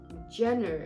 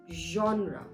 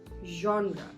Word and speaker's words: genre: but I have heard a lot of people pronouncing this word incorrectly like they call it Jenner it's not Jenner it's genre genre so genre is a style or category of